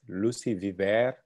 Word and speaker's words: Lucie Viver: We are very happy and pleased to have Lucie Viver today with us. Lucie Viver, as she told me, is the right pronunciation.